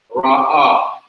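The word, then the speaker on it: רָעָה: The ayin is not pronounced, just like the aleph is not pronounced. Ra'ah.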